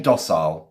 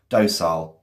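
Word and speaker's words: docile: I don't mind if you were to pronounce it dosile or dosile. Okay. Both work.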